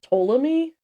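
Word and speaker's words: Ptolemy: So the era began when Alexander's general which is and I have I hope I'm pronouncing this right but I think it's Tommy it's P T O L E M Y Tommy uh took over as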